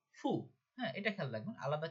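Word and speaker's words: ふ: এই যে হু না হয়ে গেল ফু।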